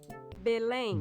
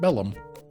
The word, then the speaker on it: Belém: Belém. Belém. Not Bellum. Belém. Belém.